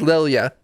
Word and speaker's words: Lilia: it is it is the name in the book is lilia and i did pronounce it that's how you pronounce it you did it i